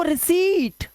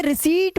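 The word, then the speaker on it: receipt: उसे रिसीट बोलना पड़ेगा, लॉन्ग वाउल साउंड देना पड़ेगा, तभी बच्चा उसको सही से लिखेगा, ठीक है।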